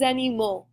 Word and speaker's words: animaux: So our example, un animal becomes des animaux. This one pronunciation gets a little different, right? We're taking the L out, and it's going to make an O sound at the end.